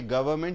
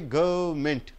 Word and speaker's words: government: a democratic government government you don't say government you say government government say everybody together